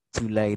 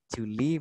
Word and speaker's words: July: Ya, kemudian July aja ya, bacanya tinggal July itu yang dibenerin. Ya, Juli bacanya bukan Juli tapi July.